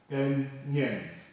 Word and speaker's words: onion: So it should be pronounced as onion.